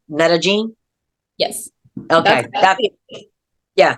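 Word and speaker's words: Medellín: And if I'm saying it correctly, Medellin.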